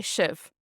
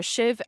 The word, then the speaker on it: sibh: you would just say shiv. So fecha me heart shiv. Pronounced different in different dialects, but all you'd have to add in is your SIBH for shiv, and then you'll be